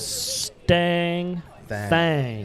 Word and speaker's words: Stang Thang: Now let's make sure we pronounce it correctly. Sorry. See, I'm not good with the names. Stang Thang.